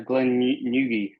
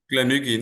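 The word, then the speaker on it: Glen Garioch: to do uh a Glenn Nugi? Uh apologies if I'm mispronouncing it. My hometown distilleries have always No, no, Gleni.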